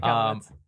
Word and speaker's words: Michalowicz: Okay, Michalowicz.